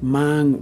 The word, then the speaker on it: mang: in the word with mang we hold the ah sound longer but with mang we move quickly to the ng sound you hear i'm i'm